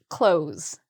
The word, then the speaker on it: clothes: So this is a hard word to pronounce because of the TH and there's a Z sound at the end. So the spelling is a little bit different than the actual pronunciation because again, the S sounds like a Z or a Z if you're in the US.